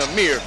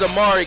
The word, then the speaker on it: Amari: I spelled your name wrong in my book. That's why I was saying Amir. So it is Amari Kelly, and those were our CBA Sports keys to the game.